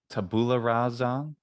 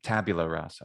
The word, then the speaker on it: tabula rasa: it um and uh like people will say like taboola rasa or instead of uh tabula rasa which would be the latin version um but yeah fabula